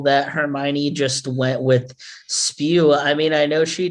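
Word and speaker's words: S.P.E.W.: do i think that her club name is pronounced spew yes like she's being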